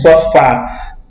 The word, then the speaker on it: sofá: Percebam que quando pronunciamos a última sílaba, Fá, ela sai com um som mais forte, certo? Então, sofá. O som da sílaba Fá, ele sai mais forte que o da sílaba Sol.